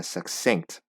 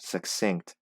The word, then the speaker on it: succinct: and it is necessary to explain their meanings in a succinct, meaning brief manner. Succinct, succinct. So you want to make sure these two C's are separate, or separate syllables.